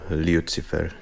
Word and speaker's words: Lucifer: they say they say lucifer so many times that um like god you like immediately pick a pickup like yeah yeah that's kind of the the slavic way of pronunciation lyoutsifer and that garden of